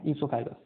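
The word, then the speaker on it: oesophagus: ओ silent होता है इसके अंदर, क्या बोलते हैं इसको हम? ईसोफेगस, ठीक है।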